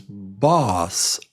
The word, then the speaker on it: boss: Uh, number one is bus. a bus. And number two is boss. A boss. A boss.